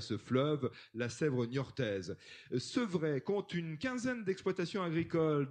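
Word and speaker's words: Sepvret: Sevray, le nom de la commune s'écrit S-E-P-V-R-E-T, Sevray, dans les Deux-Sèvres, à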